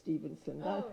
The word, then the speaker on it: Stephenson: No, you left out the last syllable of Stephenson.